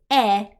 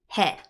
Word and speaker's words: へ: when it's a particle it is pronounced e right the H is silent this is very similar